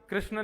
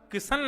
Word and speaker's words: कृष्ण: नाना जी का नाम कृष्ण लाल शास्त्री लेकिन सब गांव आदि सब जगह आधार कार्ड तक में उनका नाम किशन लाल क्योंकि कृष्ण शब्द उच्चारण थोड़ा सा क्लिष्ट होता है।